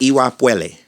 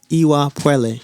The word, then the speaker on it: Iwa Pele: Yo, did you pronounce it Iwa Pele? So it's like Pele Pele, but the P sound in that E is like pue, like puele. Say it one more time. Iwa Puele. Iwa Puele.